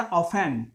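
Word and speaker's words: often: वी ऑफन गो to market, ध्यान दीजिएगा, लिखा जाता है ऑफ्टन, पढ़ा जाता है ऑफन, टी साइलेंट वर्ड है ये।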